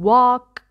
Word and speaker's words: walk: okay have have okay walk the L is silent okay calm calm down